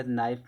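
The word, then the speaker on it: knife: जैसे अगर नाइफ दिया गया नाइफ में के साइलेंट होता है।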